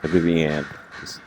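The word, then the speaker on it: Vivienne: I don't I don't know where I'm I'm at with Vivian. Vivianne, that's how you say her name.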